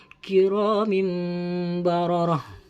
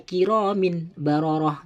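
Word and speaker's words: كرام بررة: dengan ba, seperti contoh kiramim bararah. Jadi tidak boleh dibaca kiramin bararah, tidak boleh, harus dibaca seakan-akan tanwin tersebut, tanwin kasroh pada lafaz kiramim bararah itu dibaca mim sukun, kiramim bararah.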